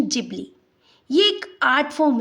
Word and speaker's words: Ghibli: पहली बात तो यह गिबली नहीं है। यह जिबली है। Japanese pronunciation जिबली।